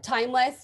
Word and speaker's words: timeless: first part of uh timeless right and we don't stress less when we pronounce it and elton john did